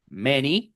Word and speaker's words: many: Bed, next, west, rest, bent, many, que también es una excepción para la para la letra A que e en palabras como any, many.